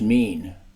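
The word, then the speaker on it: מִין: Hebrew word for kind is o i n pronounced mean the Bible does not mention species it only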